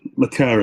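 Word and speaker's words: le Carré: Le Carre, yeah.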